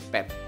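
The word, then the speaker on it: เป็ด: Nah, selanjutnya ini adalah popla, suara e pendek dengan dodek. Jadi bacanya pet, pet, ya.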